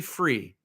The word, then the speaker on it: Frey: So call me Free, but spell it Frey.